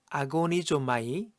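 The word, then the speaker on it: ἀγωνίζομαι: 오늘의 본문 구절에서 애써라고 번역된 단어는 헬라어로 아고니조마이라고 읽을 수 있습니다.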